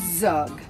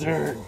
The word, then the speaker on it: Zurg: Your little friend, Zug. Sorry to interrupt your speech, but it's pronounced Zurg. There's an R in there.